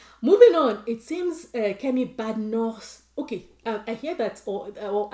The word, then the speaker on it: Badenoch: Moving on, it seems Kemi Badenoch. Okay, I hear that, or I did some research, and the name is actually pronounced Badenoch. It's a Scottish name, as we all know.